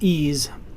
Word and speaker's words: EES: EES which is pronounced ease is an acronym for Engineering Equation Solver e provides property information